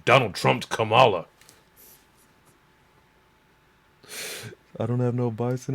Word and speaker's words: Kamala: try and explain how Donald Trump commala it's pronounced Kamala but other than that